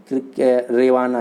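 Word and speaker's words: гривня: और यहाँ की जो मुद्रा है उसका नाम है यूक्रेनियन रेवाना, इसमें यच जो है वो साइलेंट है।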